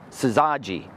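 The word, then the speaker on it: syzygy: And it is spelled s y z y g y. Saji.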